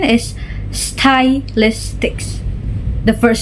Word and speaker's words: stylistics: Syllabification in spelling is stylistics and the syllabication in pronunciation is stylistics. The first syllable of the spelling is style. It's how we write it style. But the first syllable of the pronunciation is sty.